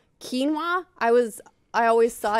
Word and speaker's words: quinoa: been saying that WR me too the I've pronounced so many of the like new healthy foods wrong quinoa I was I always saw it in a